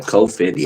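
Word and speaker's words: Cofandy: You say coat Fendy. How do you How do you say that again? C O F A N D Y. Gotcha. Coendy. All right, cool.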